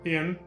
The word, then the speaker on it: Hien: Hien is basically Cyan in this game. Notice they have the same syllables. Cyan, Hien.